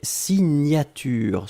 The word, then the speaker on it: signature: Deuxième chose, un substantif et c'est signature. Souvenez-vous, le GN, la prononciation, c'est gne, gne, gne, gne, gne. Signature.